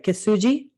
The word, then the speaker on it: kintsugi: It's a result of, now hopefully I pronounce this right, kintsugi.